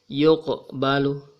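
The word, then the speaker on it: يُقْبَلُ: Huruf qof ini berada di tengah-tengah sebuah ayat. Jadi dibaca yuqbalu. Jangan membacanya sebagai yuqbalu, tetapi getarkan sedikit atau jaga agar getarannya tetap kecil. Yukbalu.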